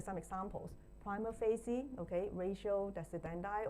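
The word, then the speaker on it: ratio decidendi: Ratio desendi or somebody will pronounce this wio desendi.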